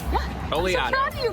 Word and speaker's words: Oleato: Oleato.